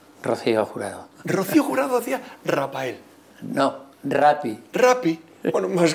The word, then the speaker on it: Raphael: No, Rapa. ¿Por no, qué? Eso, porque el PH... PH es F. F. Con la PH se escribe en todos los idiomas. En inglés, en francés, en alemán, es la PH.